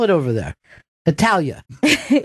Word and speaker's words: Italia: Italia. Right? So does that mean we're pronouncing it wrong when we say should. Italy? We should. We should. We should say Italia.